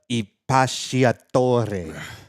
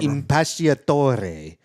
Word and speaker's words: Impacciatore: It's really hard to pronounce. It's Sabrina Impacciatore. Yeah, Sabrina whatever. Impacciatore.